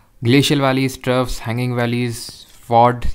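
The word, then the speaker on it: fjord: Ridges और horns, glacial valleys, troughs, hanging valleys, फॉर्ड या फिर चॉट, जो भी आप बोलो। फ्यॉर्ड वो ऐसे तो बोला जाता है, इसको प्रोनाउंस किया जाता है, बट प्रोनाउंस करने के लिए थोड़ी ना आएगा।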